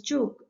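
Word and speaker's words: Ćuk: at the tube converter the two converter which is pronounced as choke is a type of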